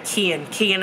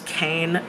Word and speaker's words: Kian: And so they're there, and the his name is Kian, I think is how you say his name. It's not how I was pronouncing it, but there's a couple times they pronounce it. Yeah, Kian is how you say it. I read it as Kane, but like I know it's supposed to be Kian.